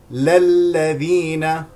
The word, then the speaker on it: للذين: بفتح القاف القاف القاف للذين بفتح اللامين للذين وليس للذي للذين للذين للذين يلون هكذا يلون يلون